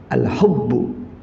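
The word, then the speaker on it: الحب: Al-hubbu gitu. Kenapa? Karena nanti kalau bacanya bukan al-hubbu artinya beda. Ya, seperti al-hibbu beda artinya. Dengan al-hubbu atau dengan al-habbu beda lagi nanti.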